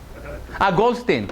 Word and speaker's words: Goldstein: Goldstein. Yeah, Goldstein. Yes, for sure. Sorry, because I'm Israeli, so I guess Goldstein. But you're right. It is the way you pronounce in English.